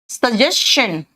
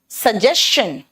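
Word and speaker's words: suggestion: अगर S के बाद TION आएगा तो बेटा ये शन नहीं होगा, ये शन का प्रोनाउंसिएशन चन हो जाएगा। क्वेश्चन, सजेशन, समझ में आया?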